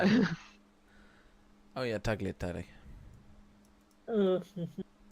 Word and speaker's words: tagliatelle: No, it's tagliatelle. So you don't even pronounce the G.